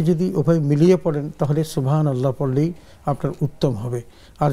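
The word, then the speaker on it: سبحان الله: আচ্ছা সেখানে আমাদের যখন শুরু সুবহানাল্লাহ যদি বলা হয় তাহলে তিনি শেষের হা এর মধ্যে তিনি জজম দিবেন এবং সুবহানাল্লাহ বলবেন নূরের উপর জবর দিয়ে নুন গিয়ে লামকে ধরবে সুবহান আল্লাহ এরকম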